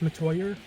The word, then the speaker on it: Metoyer: for having me on my name is matoya and i do vocals and guitars in mangle